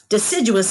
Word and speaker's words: deciduous: Deciduous is a tricky word to say because it has four parts. So let's say that word together. Let's clap out the syllables. Deciduous.